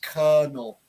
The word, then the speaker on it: colonel: It's kind of a ER sound.